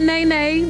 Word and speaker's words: Nay: Not Nay, just Nay. Come on, make that clear. Y'all don't know her well enough to call her Nay. It's just Nay. N-A-Y. Okay?